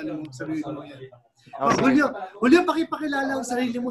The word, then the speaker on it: Julio: Julio, medyo ano, tama ba ang bigkas ko ng pangalan mo, Julio? Opo, tama po.